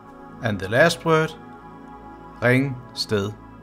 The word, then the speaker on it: Ringsted: And the last word, ringsted, ringsted, ringsted, ringsted. Ringe and ringsted are towns in Denmark. So let's do the whole sentence again. Ringeren i ringe, ringer, ringer, en ringeren, ringer i ringsted.